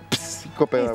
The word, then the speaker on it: psicopedagogo: Porque la P no se dice. La P no se dice. Psicopedagogo.